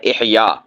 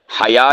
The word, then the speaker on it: احیاء: احیاء، حیا نہیں، یہ ہے احیاء، عربی زبان کا لفظ